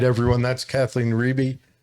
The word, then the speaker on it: Riebe: Kathleen Riebe. It rhymes with BB.